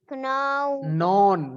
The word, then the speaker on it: known: Water that comes from the sky is known, not canon. K is silent.